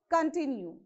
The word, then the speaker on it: continue: now come to the third prefix con continue continue okay you have to stress on t continue resist resist so r